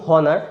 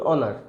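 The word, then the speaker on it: honour: তো আপনি নিজেও চেষ্টা করুন আর কি, যে একবার বলুন হনার, একবার বলুন অনার, কোনটাতে আপনার গলাতে, আপনার জিভেতে, আপনার শ্বাসেতে কম কষ্ট হচ্ছে। অফকোর্স দেখবেন এটাতে অনারেতেই কম কষ্ট হচ্ছে, ঠিক আছে। তো কাজেই এর উচ্চারণটা কিন্তু অনার আসবে।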